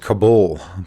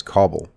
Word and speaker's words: Kabul: work in in kabul i always want to pronounce it kabul but i understand from somebody from afghanistan that is kabul anyway so he's working